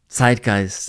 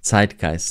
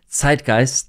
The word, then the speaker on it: Zeitgeist: Of course, you noticed zeitgeist is one of those German words and concepts that people can't really and also do not want or need to translate.